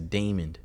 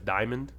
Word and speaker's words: Diamond: circus they think it's damond even though her name is diamond yes they think it's damon and it's spelled like it's spelled like the jewel how are you getting it wrong so like but my